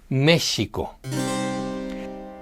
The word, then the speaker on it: México: So when the name of Mexico was written , the sound was simply represented as an X. It was still pronouncing Méshico.